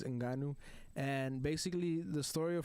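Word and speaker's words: Ngannou: and it's funny how at first they didn't know how to pronounce his name so they said francis gunnau and that's what they were that's what joe rogan everybody was calling him until they finally found out it was franz inganu and basically the story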